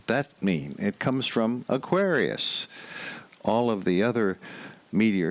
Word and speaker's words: Aquarius: But Aquarius, going from Aquarius, where the accent is on the second syllable, to the Aquariids, accent on the first syllable, that's a little bit of a jump.